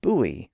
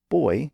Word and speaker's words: buoy: type of fish, and the word buoy, or buoy, depending on your pronunciation, for a floating marker in the water.